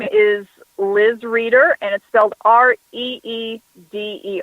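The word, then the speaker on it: Reeder: spell your name Liz because it is spelled a little different than it sounds my name is Liz reader and it felt REE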